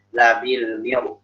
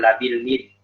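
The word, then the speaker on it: لبالمرصاد: Inna rabbaka labil mirsad. Labil mir, bukan labil mid. Bukan labil mirsad, tapi labil mir.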